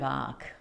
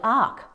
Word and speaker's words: Arc: Lake was Vivian Del AR of the waters acqs and of course jonov AR is spelled Arc but it's the same sound it's the same vibration